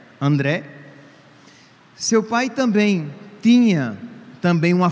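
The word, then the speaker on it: Andrea: O seu pai, André, né, que se pronuncia em italiano, né? André.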